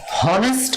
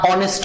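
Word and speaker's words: honest: তারপরে আমি যদি বলি যে অনেস্ট, এখানে আমরা কি উচ্চারণটা হনেস্ট করি না অনেস্ট করি? প্রনাউন্সিয়েশনটা কি করি আমরা? অবশ্যই অ দিয়ে করি, অনেস্ট।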